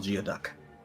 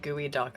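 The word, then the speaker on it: geoduck: it's like an evil Geo duck you're going to look elongated yeah I was like closely related I believe it's pronounced gooey duck I only know because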